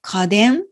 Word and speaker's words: 家電: これで家電と読みます。